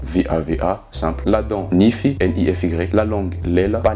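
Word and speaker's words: nify: La dent, nifi, N-I-F-Y.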